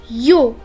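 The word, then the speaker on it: ё: then ye which is a vowel after that yo which is also a vowel then we have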